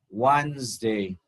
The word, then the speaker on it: Wednesday: Wednesday. Wednesday. ဒီမှာဆရာတို့ကဒီတန်ကိုဆရာတို့ကဖြုတ်ထားပါတယ်နော် Wednesday လို့လုံးဝမထွက်ပါနဲ့ Wednesday မဟုတ်ပါဘူးဟုတ်ပြီနော်ဆရာပြောပြပါမယ် Wednesday လုံးဝမဟုတ်ပါဘူးလုံးဝ Wednesday လို့မထွက်ပါနဲ့ Wednesday ဆရာတို့က WEDO ဆရာတို့ဘာလုပ်တော့ဖြုတ်တယ်အတန်နဲ့ဒီမှာ Wednesday ဆိုဆရာတို့အတန်3 syllables မဟုတ်ပါဘူးနှစ်တန်ပါပဲ Wednesday Wednesday okay အဲ့ဆိုရင်ဆရာတို့၄ရက်မြောက် the fourth